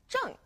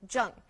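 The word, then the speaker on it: zheng: and then we have Jung z h e n g Jung now don't forget to pronounce the G on Jung it's Fourth tone as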